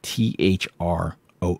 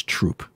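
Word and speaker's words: Throop: I there's a town right next to me that's spelled t HR o o p it's not Thro it's troop and if you say througho people yell at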